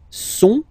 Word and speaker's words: sont: Okay, ils sont, final T not pronounced.